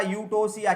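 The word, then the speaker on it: eutocia: For example हमने ओबीजी में पढ़ा था यूटोसिया, क्या यूटोसिया, यहाँ पे ई साइलेंट हो जाता, यूटोसिया, यहाँ पे ई साइलेंट हो जाता है।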